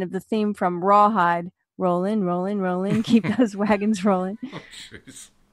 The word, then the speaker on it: Rowling: and I just realized I was pronouncing it Rowling and it's rolling so I got to start changing it to Rowling because that's what her name is pronounced but I mean who